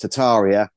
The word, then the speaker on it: Tartaria: people say it's pronounced tataria but in in England for whatever reason we we use the r we're pronouncing the r and I can't stop